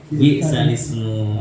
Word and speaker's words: بئس الاسم: Yang gharib bi'sal ismu dibaca bi'sal ismu.